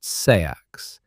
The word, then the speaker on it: seax: You also carry a seax, pronounced sayax, a single-edged knife at your hip.